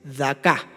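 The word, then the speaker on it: דכא: En el hebreo es daca con K y acento en la A.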